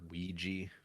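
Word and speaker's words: Weegee: do you know about the photographer Ouija I don't know about Ouija boards yeah is that somehow connect that you do nope okay it's spelled differently as well w-e-e-g-e-e so he was a he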